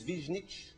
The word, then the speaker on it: Višnjić: it's gone on and the second name is vision itch yes vision each other that's good do